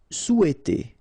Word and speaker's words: souhaiter: Souhaiter. So remember, in French we don't pronounce this H, okay? It doesn't phonetically exist here, so you've got sou, after that you've got e, and then t.